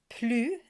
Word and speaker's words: plus: You have plus, and here the S is silent, and une.